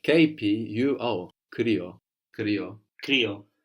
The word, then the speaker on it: κρύο: The word for cold in Greek is kryo, kryo. Κρύο. And that's spelled K, the Greek K. The R sound, which is actually spelled with a P. The letter that looks like a P gives us an R. And then we have the U there. The I sound there is a U.